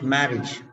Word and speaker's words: marriage: College, marriage, marriage. So AGE, EGE. Now IAGE also is the same. MARRIAGE. Okay, this also is pronounced as IJ only.